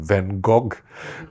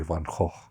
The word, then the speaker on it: Van Gogh: this is a mispronunciation, Van Gogh, but it turns out to be Van Gogh. If you're speaking Dutch, or depending what language you're speaking, you pronounce the name differently.